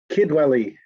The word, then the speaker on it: Kidwelly: Kidwelly, pronounced just as you expect it by second voice on page 3, line 4.